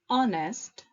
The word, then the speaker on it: honest: A, honest, honor, our. A, or, an. So far, we have seen that we use a before a consonant. Here's the catch. With these words, the letter H is silent.